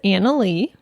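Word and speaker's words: Anali: cyber security analyst yeah and his girlfriend is Anna Lee yeah yes spelled a n a l i anal anal I an how it's spelled yeah um so he has two guinea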